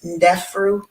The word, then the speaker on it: Ndefru: The pronunciation is Ndefru.